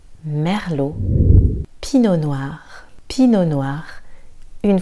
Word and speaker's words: Merlot: Merlot. Le T est silencieux. On ne dira pas Merlot ou Merlot. Merlot.